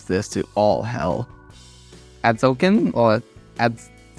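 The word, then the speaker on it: Atzocan: Adzokin or Ads? Arzokin Seer? I don't know. It's ATZ. There's no R there. Is that a There's a T. Adzokin?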